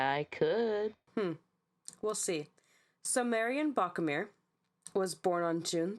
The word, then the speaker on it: Marianne: It Was looks she like was Marion or Yeah, Marianne. right. Right. So Marion was Marianne.